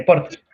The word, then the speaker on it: Porter: De Porter. Así como se escribe, P-O-T-R-E. Porter, de Porter.